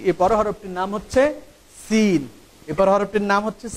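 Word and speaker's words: سين: এই হরফটার উচ্চারণ হয় যা হরফটার উচ্চারণ যে জায়গা থেকে হয়, সিন হরফটার উচ্চারণ একই জায়গা থেকে হয়। জিহ্বার আগা সামনের নিচের দুই দাঁতের গোড়ার সাথে সম্পৃক্ত হয়ে এই হরফটির উচ্চারণ হবে।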